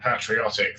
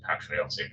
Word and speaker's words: patriotic: say that indeed, Peter, you are that patriotic that you have not realised that it's actually pronounced patriotic on this side of the pond.